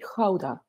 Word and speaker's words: Gouda: It's pronounced Gouda. So now you can all try at home, say after me, Gouda.